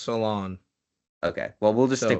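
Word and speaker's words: Salaün: I know the last name's pronounced Salon.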